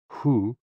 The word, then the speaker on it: hu: Hoo, pronounced like hu, which is associated with the spleen, and xi, pronounced like shi, which connects the whole body.